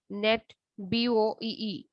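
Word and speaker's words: NetBEUI: within a local area network net be ui pronounced as net bo e formalizes the frame format or arrangement of information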